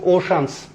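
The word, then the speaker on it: ocean: এই যে দেখেন অল দ্য রিসিস অফ the world's ওশানস, এটা কিন্তু আমরা ছোটবেলা অনেকে অশান বলে, কিন্তু ওর প্রোনাউন্সিয়েশন ওশান, ওশান, ওশান।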